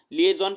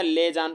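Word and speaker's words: liaison: एक तो पढ़ सकते हैं लिएजॉन पढ़ सकते हैं या लेजान पढ़ सकते हैं। ठीक है, अलग अलग प्रोनाउंसिएशन का तरीका है। ठीक है, देखिए लेजन का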